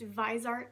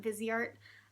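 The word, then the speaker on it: Viseart: is my I believe it's pronounced visart not vizart uh it's my visart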